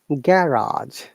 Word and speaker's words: garage: So in British English, we pronounce it garage. We're stressing on the R sound.